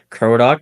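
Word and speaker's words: Krodok: to our audio listeners, uh, yeah, I am Cro, capital K R O D O K. You know, it's pronounced the bird crow and the a dock, you know, a ship dock.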